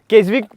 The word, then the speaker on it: Keswick: केसिक है, केसविक, KESWIC के करते हैं, ये साइलेंट करके केसिक बोलते हैं इसको, ठीक।